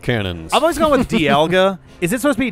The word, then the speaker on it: Dialga: that kind of thing pronunciation guide says D alga Dialga Dialga okay sorry Dialga with the stress in the middle yeah because English but